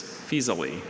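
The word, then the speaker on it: Faesulae: An ancient commune northeast of Florence in the central Italy region of Tuscany is Fisali.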